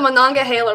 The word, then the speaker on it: Monongahela: like i know we couldn't even attempt to pronounce that yeah it's called the monongahela river the monongahela monaco i would be able to say it